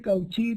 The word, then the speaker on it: Cauchy: Y las dos últimas notaciones se refieren a Cauchy, que es un matemático francés, que se escribe Cauchy, pero como es un apellido se pronuncia sin traducción.